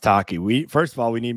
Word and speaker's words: Tacchi: It's pronounced Tacchi.